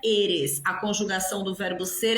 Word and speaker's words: eres: Olha a pronúncia, não é eres. Eres. E. Fechado. Esse E tem que ser fechado.